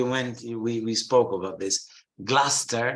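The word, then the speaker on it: Gloucester: we spoke about this gluster not gloss Chester it's like Lester gluster Musta Worcester Worcester not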